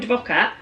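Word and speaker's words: Dvořák: non troppo by Antonin Dvorak, who lived between 1841 and 1906. And it says a close contender for the 4th of July spot, Antonin Dvorak, or pronounced Dvorak, composed this ebullient, lovely string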